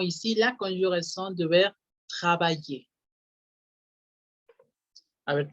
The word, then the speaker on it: travaille: Y- Si le quito la I y la R, la pronunciación sería hasta las L's y acuérdense que la L es como una doble I. Entonces es travaille, el radical, travaille.